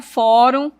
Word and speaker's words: fórum: Fórum, observe aqui, ó. termina com um. Então, a sílaba tônica é no fó.